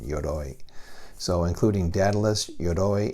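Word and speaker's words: Yoroi: ou ROI I'm pronouncing it looks Japanese to me so I'm giving it a Japanese pronunciation yoy so including dadelus your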